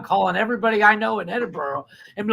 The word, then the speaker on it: Edinburgh: everybody in Scotland Scotland scooterland and in in Edenberg Edenberg Scotland I know everybody that lives there it's so funny the amount of times that I've had to explain that is pronounced Edinburgh not just to you but to anyone from